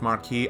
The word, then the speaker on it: Marquis: When it came an official When it came an official announcement or with it came an official announcement in secret, Marquis is pronounced marquee.